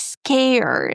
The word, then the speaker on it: scared: Another similar word is scared. In this case, we pronounce sk. Then we pronounce the word air and then D at the end.